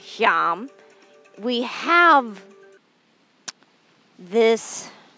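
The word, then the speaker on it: Yam: of the annapurna Anahata chakra is john it's pronounced YUM we have this sound vibrating through us to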